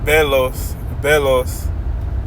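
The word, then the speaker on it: βέλος: It reads, it's pronounced belos, and it means a missile, dart, javelin, arrow.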